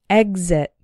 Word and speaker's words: exit: follow the rule and that is the word exit the X is followed by a vowel sound but the first syllable is the strong one exit but we still pronounce the X like cos exit this word appears to be an exception to